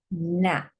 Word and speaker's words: gnat: So note again, these letters, silent G is silent when it's next to an N.